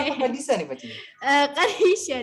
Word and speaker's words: Qadisha: Kadisa dibacanya.